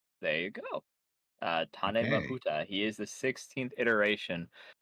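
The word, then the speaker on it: Tāne Mahuta: Apparently is pronounced Tane Mahuta. There you go. Uh Tane Mahuta.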